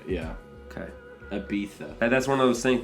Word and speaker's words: Ibiza: Oh, it's Ibiza, yeah. Okay. Ibiza.